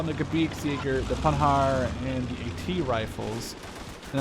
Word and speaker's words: Panhard: And the Panhard, by the way, someone did tell me that you do not pronounce the D in a Panhard, so I'm going to try and not pronounce that.